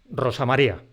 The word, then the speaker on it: Rosa María: escrito en una palabra pero decíamos Rosa María con un solo golpe de voz Juan Carlos con un